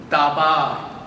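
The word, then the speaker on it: דבר: So in Hebrew, you know, the word in Hebrew, dabar, just pronounce together, dabar, dabar, dabar means word.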